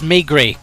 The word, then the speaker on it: Maigret: I want to take a point off you for that pronunciation. Can you try again? Maigret. It's Maigret, correct, and well done.